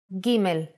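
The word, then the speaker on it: ג: the aleph bet is gimel the sound of gimel is G let's first see how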